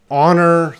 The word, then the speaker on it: honor: These words, hour, honest, honor, they all have the silent H.